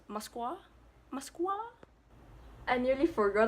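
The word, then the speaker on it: Москва: their capital is Moscow in Russian it's pronounced as Moskva Moskva I pray me I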